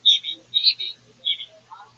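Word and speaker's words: Eby: Brett, how do you say that last name? E-B-Y? Evie.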